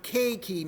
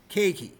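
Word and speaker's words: keiki: for instance the word k key means child in Hawaiian the EI isn't pronounced as separate vowels it's pronounced as a you don't go and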